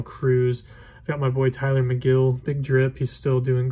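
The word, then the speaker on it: Tylor Megill: that difficult i mean it's tyler but just with an o so it's still tyler and then it's mcgill it's not taylor it's not meagle it's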